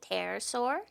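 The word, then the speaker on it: pterosaur: So, is it terasaur? Terasaur. I hate when there's a silent P.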